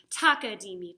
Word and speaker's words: takadimi: Also notice that in takadimi, the third syllable you say is di, because that's halfway through. And that matches the ta-di that we say for eighth notes.